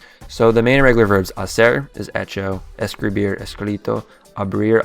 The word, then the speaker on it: hacer: It's kind of similar to hacer, since the H is silent, satisfecho.